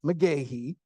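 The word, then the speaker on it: McGeachy: The Meahhei name pronounced Meahhei uh may sound familiar to some older diehard ACC hoops fans.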